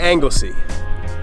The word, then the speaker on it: Anglesey: We made it to Anglesey.